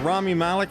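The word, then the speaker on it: Rami Malek: And in 1981, uh, Rammy Malik, is that how you say it? Malik, I got it right.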